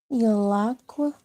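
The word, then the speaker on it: ילק: Yalak. Yalak. All right, so where you have like a qua at the ending, you almost pronounce that similar to a ka, right? So it would be yalak.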